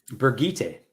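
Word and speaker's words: Birgitte: Where's Bridget going? Brigitte. When I say Bridget, I'm sorry.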